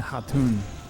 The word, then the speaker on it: Khatun: oh yeah you're right they did have a silent k earlier when they when they pronounced k-h-a-n so han and hatun yo stop killing things